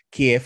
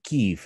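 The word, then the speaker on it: Kyiv: de más chic y ya no dicen kiev sino que dicen keyf no O sea ya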